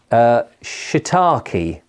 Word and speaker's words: shiitake: And the other one is, now I had to take advice on how you pronounce this because I wasn't sure, shiitake.